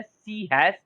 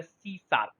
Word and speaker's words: C#: इसको हम लोग सर लिखते हैं, ऐसे लिखते हैं सी हैश, इसको पढ़ते हैं शार्प, ठीक है। मेन कोई जो है सी हैश भी पढ़ता है बट एक्चुअल इसका जो प्रोनाउंस होता है सी शार्प, इसको जो है हम